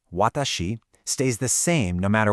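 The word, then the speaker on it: は: the particles wa which is pronounced wah and ga ga.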